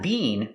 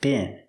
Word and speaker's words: been: much worse pronunciation B use the short is sound like this is not being but been it could have been